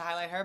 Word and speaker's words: HighlightHER: but everybody's turning into highlight her but I'm like yeah I put the H in it was supposed to be like a silent h but whatever I just